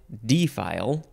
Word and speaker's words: defile: form of defile and you could also emphasize the first syllable D file this is a noun